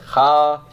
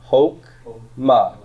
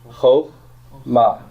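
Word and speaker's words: חָכְמָה: Over here, though, it's pronounced how? It's not ha. That's a short O. Ho, ma. And remember, don't pronounce the shava. Hok, ma. Hok, ma. Say that to me. Hok, ma. Okay, the accent's on the ma, right?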